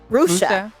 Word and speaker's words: Rushia: Rushia Brown. Rusha. Rusha. Yeah, don't say, because I said it wrong a few times with her, and she gave me the dagger look like Rusha.